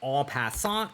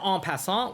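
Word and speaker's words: en passant: go for the classic all passant with pawn takes pawn. Of course I'm going to pronounce that correctly because right now we are in Canada and French is one of the main languages.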